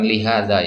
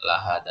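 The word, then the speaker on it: لهذا: Ya, la di sini bukan lihada ya, tapi la bacanya lahada.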